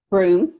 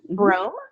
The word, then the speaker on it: Broome: Broome. Broome. I pronounced it right. It has that E on the end, so it threw me a little bit.